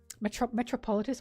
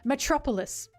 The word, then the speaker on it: Metropolis: Metropolitis? What the fuck? Metropolitan is what I was saying. Metropolis.